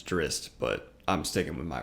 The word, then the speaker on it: Drizzt: Alan Mandragoran versus Drizzt Du'Urden, or as it's apparently pronounced Drizzt, which I hate that. My whole childhood I called him Drizzt, and now apparently it's Drizzt, but I'm sticking with my pronunciation.